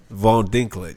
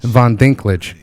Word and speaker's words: Von Dincklage: We got Alexander and pronouncing your last name. Von Dincklage. Von Dincklage.